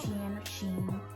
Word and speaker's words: Shein: or shin or sheen however you're supposed to pronounce it okay that's sheen she yes that's all i ordered stay tuned